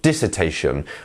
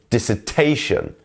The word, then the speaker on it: dissertation: is the stress syllable so dissertation not dissertation or dissertation is dissertation the t is our stressed syllable here um next up up